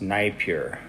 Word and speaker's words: Napier: note just historical note it's knight pure i had to look up the pronunciation because it doesn't look like it would be naip here but it's scottish so what can you say